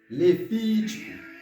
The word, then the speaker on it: Levítico: Levítico. On va me traîner sur via, parce que c'est pour accent, c'est la tonique là.